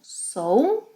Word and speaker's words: sou: Eu sou, two distinct sounds.